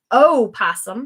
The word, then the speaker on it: opossum: So you're going to find the opossum, starts with an O, but a lot of us, the O is silent.